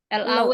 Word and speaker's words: law: L-A-W ya. Bacanya law. L-O. Law. W-nya nggak dibaca.